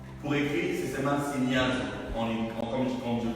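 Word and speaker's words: σινιάζω: Cribler là, le mot grec pour cribler c'est synéazo. Pour écrire, c'est seulement signazo. Comme je prononce en lingala, en français, signazo.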